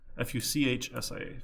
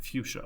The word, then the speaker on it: fuchsia: Fuchsia. Fuchsia. Okay. Sure. It's kind of sad, actually. My last name, is pronounced with like the SH sound, like Charmin toilet paper, but it's a CH.